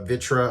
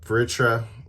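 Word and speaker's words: Vritra: is very standard so be running three uh vitra I believe um yeah veritra it's very hard to pronounce v-r-i-t-r-a um and then one magista's Theory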